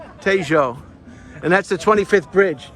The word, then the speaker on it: Tejo: So how do you pronounce it? New York. No, the river? We think Tejo. Tejo.